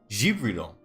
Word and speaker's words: Gabriel: Gibriel. It'll be a soft G.